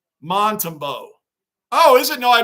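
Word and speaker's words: Montembeault: Bruin, I don't know if you saw my comment earlier, but his name is pronounced Montembeau.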